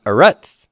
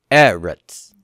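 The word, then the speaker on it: ארץ: the first syllable stress it's not a rut but Eretz eret how did we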